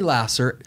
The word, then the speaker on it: Laser: more time lasser so that's spelled like the pure love of jesus pure love jesus lasser l-a-s-e-r okay spelled like laser pronounced lasser okay um look truly